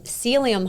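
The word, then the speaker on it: psyllium: T my husband, he was trying out a smoothie and he put um celium husk.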